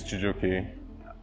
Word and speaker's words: Chijioke: My name is Chijioke. People call me CJ when they can't pronounce my name, but it's Chijioke as in Chijioke.